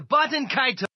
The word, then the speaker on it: Baten Kaitos: Welcome to Baten Kaitos. So there you have it, folks. The official English pronunciation is Baten Kaitos.